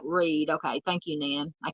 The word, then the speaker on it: Read: uh donated to um True Crime web Foundation pronounce like Reed okay thank you Nan I can't want to say red Karen Reed okay thank you Dy Dy says